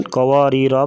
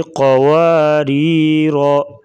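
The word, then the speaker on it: قواريرا: گے کیا لشیئن قواریر، وقفاً قواریرا پڑھا جائے گا، اگر وقف نہیں کریں گے تو پڑھنے کی صورت میں قواریر۔ یبسط، سین اور صاد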